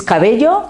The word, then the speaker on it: Cabello: on this uh transformation my name that he was not able to pronounce is cabello in spanish and we try to present outside i have to say cabello because it's quite easily understandable so i work in